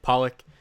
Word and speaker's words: Pollack: I know sometimes I might get confused with a 250-pound, like I think he was a linebacker, David Pollack, pronounced the same, spelled the same.